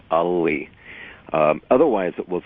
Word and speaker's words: Alli: It is when it's pronounced in the Finnish way, which is to pronounce both L's, so it's Alli.